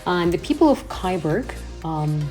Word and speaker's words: Kyburg: The people of Kyburg, sounds like Cyborg, Kyburg founded the city, which received the so-called right of the city by Habsburgians in 1264.